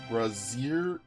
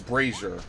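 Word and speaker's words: brazier: pronounce it I'm sorry oh it's braier oh my god I've never heard it said that way except dude in Prince of Persia I swear they say brazer and that's the first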